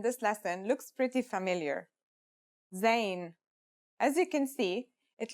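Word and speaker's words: زاي: a DOT on top in terms of pronunciation you say just like the English Z as in zebra or al-jazeera practice saying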